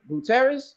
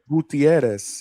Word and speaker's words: Gutierrez: it's uh cuz how you say his name Gutierrez that's how you say his name Gutierrez yeah Gutierrez Gutierrez uh all right so